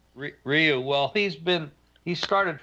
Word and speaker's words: Ryu: I just say Ryu, like it's spelled. Ryu.